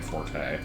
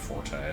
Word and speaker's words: forte: is never really my forte, which apparently is just pronounced fort and not forte.